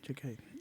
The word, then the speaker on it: Jakai: Jakai, right? Jakai. That's how you pronounce his name.